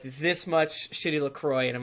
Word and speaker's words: LaCroix: mangoes don't I look okay that's the correct pronunciation of that brand the person Wow McCoy how you present it is Lacroix yeah it's the correct block let's go it's